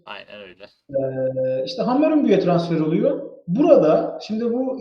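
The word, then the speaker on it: Hammarby: Hammer Hammer Bay. Ben buna Hammer Bay derdim. Hiçb öyle hammer ama ya. Y ü diye okunuyor şeyde Danimarka'da. Muhtemelen İsveç'te de aynıdır. Aynen öyle. eee işte Hammarbü'ye transfer oluyor burada.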